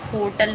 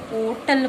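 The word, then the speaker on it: hotel: जैसे कुछ लोग इसको होटल बोलते हैं, बट आजकल इसे ओटल बोला जाता है। प्रोनाउंसिएशन चेंज हो गया।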